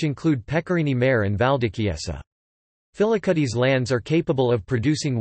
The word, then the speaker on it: Filicudi: Filicudi, Italian pronunciation, Filicudi, is one of 8 islands that make up